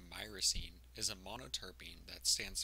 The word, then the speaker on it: myrcene: to talk about Marcin mersin actually pronounced my racine is a monoterpene that